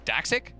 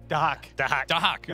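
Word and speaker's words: Dahaka: Daxic? Dahak. Right. You don't pronounce the X, right?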